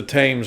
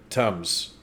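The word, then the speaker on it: Thames: me out I swear I thought it was tame the tames guess I was wrong the whole damn time I don't know now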